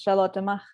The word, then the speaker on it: Charlotte Mach: the German one is Charlotte Mach, and then if you go for the English one, it's Charlotte, and then just leave out the last name because it doesn't do English well.